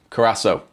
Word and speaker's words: Curaçao: Second seeing Cura- Curaçao is pronounced as an S. Curaçao.